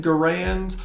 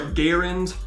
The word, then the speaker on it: Garand: American, but this is the M1 Garand, or Garand, depending on how you pronounce it.